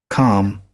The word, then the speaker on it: calm: Calm. Calm. Calm. Mm-hmm. Calm. So which is the letter or letters that are silent? L.